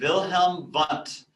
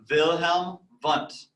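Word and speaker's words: Wilhelm Wundt: start at the beginning with a guy named wilhelm bunt so those w's he's german so they're pronounced like these wilhelm bunt and his approach to psychology is called structuralism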